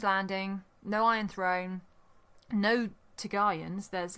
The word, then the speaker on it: Targaryen: and chips to have Targaryens. a tartar sauce. Yeah, there's no. Do you mean Targaryens? Targaryens? How are we? Oh gosh, are we all pronouncing? It's because it's Targaryen. Okay, It's the dragon Targaryen.